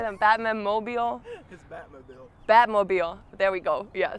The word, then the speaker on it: Batmobile: And with his Batman mobile. No. Oh no, how do you say that? Batman mobile? His Batmobile.